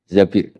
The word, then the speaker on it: Zabir: Di hadis ini bukan bacanya bukan Zubair, tapi Zabir. Abdurrahman bin Zabir.